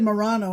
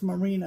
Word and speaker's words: merino: channel about crust and apparently we pronounce merino wrong last we we did was it Morano no no we said Morano and it's marina on whatever arena Morano okay she also sent me